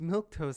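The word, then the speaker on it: milquetoast: and get even more mad um but it's pronounced milk toast that's the goofiest thing i've ever heard milk toast uh yeah abby if you read the end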